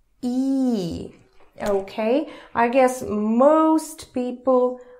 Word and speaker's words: И: you try to pronounce E. Okay, I guess most people are pretty capable of pronouncing it. E, and I'm just reminding you that it's like double E in English.